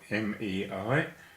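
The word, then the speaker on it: 没: The next character is Mei. Mei is spelled M-E-I, and it is second tone, a rising tone. Mei. It's pronounced like the month of May, and it negates yo.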